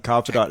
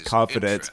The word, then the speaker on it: confidant: I spent 5 minutes making fun of the the pronouncing confidant as confidence.